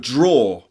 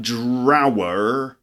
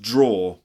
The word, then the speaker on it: drawer: number 16 the word draw draw I know it's spelt it looks like drower but it's actually pronounced draw for example a draw